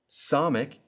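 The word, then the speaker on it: samekh: the n in now somic is one of the s sounds in hebrew and it sounds like the s in sin iron like aleph is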